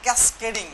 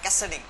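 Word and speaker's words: Cascading: আচ্ছা, এটাকে অনেকে উচ্চারণ করে যে ক্যাসকেডিং, আসলে উচ্চারণটা ক্যাসকেডিং না, ক্যাসকেডিং। ক্যাসকেডিং স্টাইল শিট, এটা হচ্ছে ফুল মিনিং CSS।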